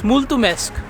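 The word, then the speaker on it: mulțumesc: thank you to anyone but now i can pronounce it very well it's multumesque but in the beginning this pronunciation was extremely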